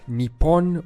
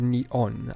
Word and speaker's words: Nippon: Japanese is written using these kanji characters and pronounced Nippon or neon I'm gonna mispronounce a lot of things in